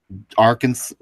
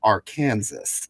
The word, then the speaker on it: Arkansas: someone says they're from Arkansas is that people say I'm serious some folks usually out-of-staters try to pronounce it like that and I'm like no as the silent as for some reason even